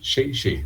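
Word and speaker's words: 谢谢: agradecendo em mandarim, em chinês, que diz aqui, Shei Shei, a pronúncia disso aqui.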